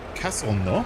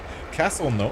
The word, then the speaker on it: Castelnau: The other one I'm super infatuated with is Castelnau, which I think is the proper way to say it, because I did take a whole 2 years of French in high school. Castelnau, or Castelnaud, N-A-U-D. Castelnau. So you say that French is Castelnau.